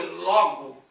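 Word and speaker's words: λόγο: Aqui eu transliterei, mas quando você vai falar na pronúncia não é logu, é logo, tá?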